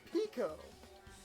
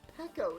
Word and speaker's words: Peko: I thought it was Pico. How is that pronounced? Peko.